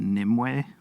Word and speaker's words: Nimue: And the first album, how do you pronounce that? Is it Nimue? Yeah, Nimue.